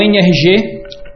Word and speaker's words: NRG: Eh, o NRG, a as letras N RG, se a gente pronunciar em inglês, fica NR G, que é exatamente a pronúncia da palavra em inglês energia.